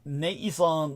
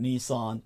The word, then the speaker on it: Nissan: And here we are, the success of Honda Nissan merger, far from certain. So thank you, I'll check into that. Americans call it Nissan, but it's Nissan, the original pronunciation.